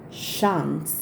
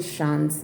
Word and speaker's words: Chance: and this is chanel shant i call it shan's because i think that's the french way to pronounce it please correct me if